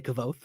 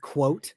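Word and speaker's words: Kvothe: In my head I still say kavoth. That's how I read it. But I know it's not I know it's like quote but with like a W.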